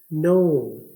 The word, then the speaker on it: know: अगला लफ्ज है नो, KNOW। नो का मतलब है जानना, किसी भी चीज का जानना नो कहते हैं। यहाँ पर के की आवाज नहीं है, के खामोश है, और दूसरी आवाज एन